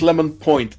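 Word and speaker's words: Lemon.: you can and yes it is lemon point not lemon you have to pronounce the point in the unless you're dan of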